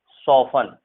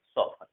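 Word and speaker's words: soften: Wrestle, Christmas, नेसल, ऑफन, सॉफन, एफ के बाद अगर टी होता है तो भी टी साइलेंट जनरली होता है, ये ध्यान रखना है आपको, ऑफन, सॉफन, ठीक है, क्लियर है स्टूडेंट।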